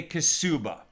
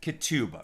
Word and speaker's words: ketubah: a get but to a kasuba or some would pronounce it ketuba right to a wedding